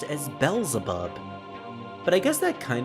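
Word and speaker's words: Beelzebub: I never heard it being pronounced as Belleub, but I guess that kind of does make sense considering B ball is pronounced that.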